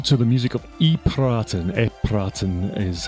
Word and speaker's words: EPiraten: EPiraten is how you say it.